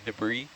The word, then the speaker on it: debris: i'm dyslexic i mean to be fair it is silent start going up that debris it's like the brisk